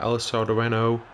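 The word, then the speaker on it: El Sardinero: And here we are, we're playing at El Sardareno, that's how you pronounce it.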